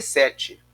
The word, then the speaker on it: Set: se escreve o n mas o nome dele na verdade no na no hebraico é set então que significa eh